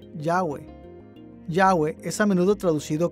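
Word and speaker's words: Yahweh: h recientes descubrimientos arqueológicos han indicado que este término debe ser pronunciado yagüe yagüe es a menudo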